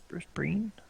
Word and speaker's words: Brienne: Co will we look at Bri is she Breen how do you say grith Brien Brien Bri Brienne right at Brienne as she sneaks in but